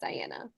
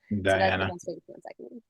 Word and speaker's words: Dahiana: i a n a and yes it's just pronounced Diana Diana nice yep that's where